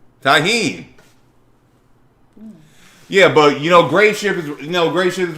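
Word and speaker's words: Tajín: That's how you say it? Not Tajin. Tahine.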